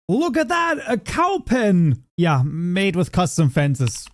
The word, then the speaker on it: Kaupen: You take the word for the animal that makes moo. That's called a cow. And then you say pen, as in either the writing instrument or, if you put